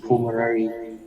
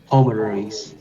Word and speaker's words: pulmonary: The circulatory system consists of the heart and two circulatory system, which is the pulmonary. Pulmonaries. O với L, U L are pronounced like O.